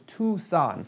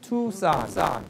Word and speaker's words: Tucson: it correctly so the Tucson the C is silent right English is crazy perfect example Tucson okay go ahead again